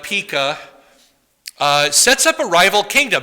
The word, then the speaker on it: Pekah: And then Pekah, not Pikachu, but Pekah, sets up a rival kingdom.